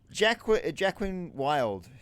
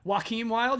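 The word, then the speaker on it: Joaquin Wilde: Jacqueline Wild, who's in the LWO, right? Yeah, Joaquin Wild, you mean? Yeah, I always read it wrong. Shut up. So him. Yeah, you also say it wrong.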